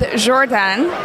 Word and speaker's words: Jordane: We are here with Jordane. Is that how you pronounce it?